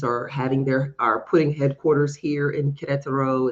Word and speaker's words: Querétaro: about 3 hours north of Mexico City called Querétaro, That's how I would Querétaro, be pronouncing it.